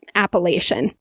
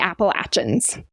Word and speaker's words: Appalachian: start going north then the locals will more call it Appalachian but the people in the southern Appalachian Mountains highly highly highly want you to call it the appalachin interesting so yeah that's how they say it locally in the southern part